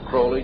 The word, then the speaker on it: Crowley: about with Alistair Crawley he likes to have his name pronounced Crowley to rhyme with holy and and uh the